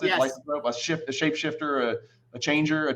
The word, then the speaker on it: lycanthrope: Is that how you pronounce it? Yes. Lycanthrope, a shapeshifter, a changer, a changeling, whatever, Right, a shapeshifter.